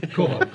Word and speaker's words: quahog: For the commercial harvest of quahog, how do you pronounce it? Quahog.